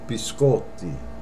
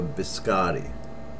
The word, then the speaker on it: biscotti: It's biscotti. And I hear a lot of Americans say, can I have a biscotti? Incorrect. Biscotti. And that means cookies, plural. Biscotti. Not biscotti.